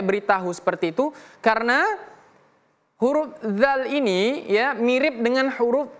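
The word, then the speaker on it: ذ: Perhatikan pada huruf dzal. Fattakhiz. Fattakhidz. Infal. Dza. Dzi az idz uz. Cara membacanya ujung lidah kita ditempelkan ke gigi seri atas. Dza dzi ujung lidah tempelkan ke gigi seri atas dza. Kemudian sebutkan huruf dza. Dza.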